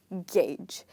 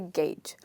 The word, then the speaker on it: gauge: about gauge okay so the way we pronounce game is the same way we pronounce this word which is gauge let me just write